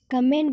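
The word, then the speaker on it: comb: जैसे बनाना, जॉब, इन दोनों वर्डों में बी का उच्चारण हुआ है, लेकिन डम एंड कम इन दो वर्डों में बी का उच्चारण नहीं हुआ है, क्योंकि एम के बाद बी आया है।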